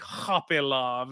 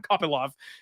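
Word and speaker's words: Kopylov: Rodriguez for whatever reason I see copy love and I think hoopy love and I don't know I'm not sure where that came from maybe I heard it mispronounced once and I've just copied it ever since but I will work on that I'm sorry I see you guys all in the in the comments Roman kopyov um this is one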